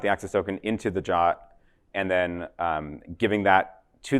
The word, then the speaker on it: JWT: is a subtle one so JWT pronounced ja stands for JSON web token this is